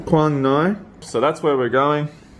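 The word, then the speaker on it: Quảng Ngãi: Quang Ngai. Quang Ngai.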